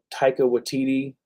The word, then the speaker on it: Taika Waititi: I see that Taika Waititi, that's how you say it, is going to be doing a Star Wars movie.